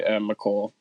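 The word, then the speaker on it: Mecole: How do you say his name? I say McCole.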